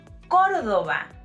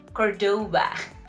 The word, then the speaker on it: Córdoba: And since we're in the topic, it's Córdoba, not Cordoba.